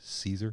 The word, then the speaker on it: Caesar: Kai's Kaiser he corrects him it's like it's pronounced Caesar it's Caesar you dope oh my God he talked and